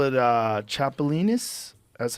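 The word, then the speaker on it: chapulín: you cook it up they call it uh chapolin that's how you say it I would do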